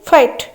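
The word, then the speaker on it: fight: answer 7 number question अछि 7 number question फाइट एफ आई जी एच टी फाइट option A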